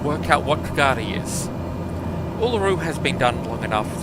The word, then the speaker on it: Uluru: that has a, so it's weak emphasis, no emphasis, strong emphasis. So the middle U is, usually written up with the pronunciation guide of a schwa, so it's just a sound. So Uluru, and yes, most of the emphasis on the third syllable, which is the exact